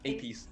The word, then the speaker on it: Apex: It looks like apes, but yeah, Apes. It's pronounced Apes.